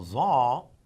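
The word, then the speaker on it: ظ: Now za, if you would notice, again z, but this is again deeper, and we would say it's za with a double a dot.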